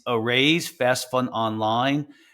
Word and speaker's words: Araize: It's Arraize Fast Fund Online. It's spelled A-R-A-I-Z-E.